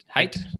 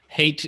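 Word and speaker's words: Haidt: lucanoff and jonathan hate height height thanks kyle hate is definitely not it it's how it's spelled it's not yeah it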